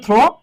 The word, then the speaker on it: through: এই দেখো এটা কিন্তু একটু খেয়াল করবা, একটা হচ্ছে থ্রো, হ্যাঁ একটা হচ্ছে থ্রো, এই যে THROW, দেখো উচ্চারণটা কি বলতো?